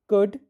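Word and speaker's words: could: Palm कुड walk. फिर से पढ़ें। Palm कुड walk. देखें। यहां पर हम पाम पढ़ रहे हैं तो एल साइलेंट लेटर है। कुड पढ़ रहे हैं एल साइलेंट लेटर है।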